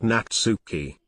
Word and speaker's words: Natsuki: it Yuri Stephen her name is pronounced natsuki you are